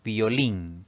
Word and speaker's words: violín: en una consonante s nuestra tercera palabra es violín si dividimos esta palabra pues tenemos dos sílabas la mayor fuerza de voz recae en la última sílaba contando de derecha a izquierda eso la convierte en una palabra aguda y va a llevar